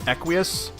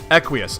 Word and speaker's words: Equius: name is equius aha is that how it's pronounced is it equius it looks like aqueous I'm gonna go with that quiesce unless you guys have